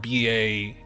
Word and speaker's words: Baha: And mind you, it's not spelled B-A-J-A, it's spelled B-A-H-A, like Bahamas. It's the Baja Men.